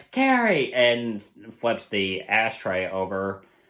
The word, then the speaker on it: Carrie: because of the incident he repeatedly mispronounces her name as Cassie of course Carrie freaks out and light up being like it's Carrie and flips the ashtray